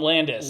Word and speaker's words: Landis: So you keep saying his name wrong. It's John Landis.